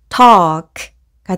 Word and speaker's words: talk: 이때 A의 소리는 오와 어의 중간 발음으로 내시면 됩니다.